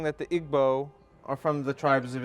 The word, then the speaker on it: Igbo: comes from Nigeria from the Igbo tribe otherwise pronounced IBO and Remy's a scholar